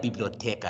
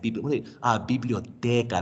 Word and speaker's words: biblioteca: It's not like biblioteca. It's like biblioteca. Their tongue is here.